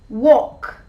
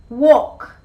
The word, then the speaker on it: walk: today we're gonna see eight words in which the l sound is not pronounced number one walk walk i love taking long